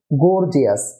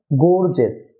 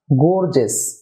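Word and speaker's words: gorgeous: religious contagious prestigious গর্জিয়াস আমরা সাধারণত একে বলি গর্জিয়াস যা সঠিক নয় এর উচ্চারণ হবে গর্জেস গর্জেস আউটরেজেস এডভান্টেজেস নসেস gases dear viewers I ও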